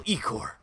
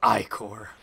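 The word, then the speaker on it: ichor: can fill with magical ecore that's pronounced i-core choose your Ico wisely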